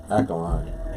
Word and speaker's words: alkaline: Ackland diet. That's not how you say it. Alkaline. Yeah, It's alkaline. Ackland. Alkaline. It's Ackland. Alkaline. diet. It's pronounced alkaline.